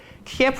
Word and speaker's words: Kyiv: In Kiev, the Russian pronunciation of the capital city of Ukraine, Kyiv in these days. Kiev was captured twice, first by the Germans, second by Soviet.